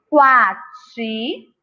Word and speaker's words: quati: Quati, queijo, quiabo, quibe, quadro. Qual deles a gente pronuncia? A gente percebe a letra U. No quati e no quadro.